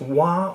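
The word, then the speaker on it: は: When denoting a subject in a sentence, ha is pronounced wa.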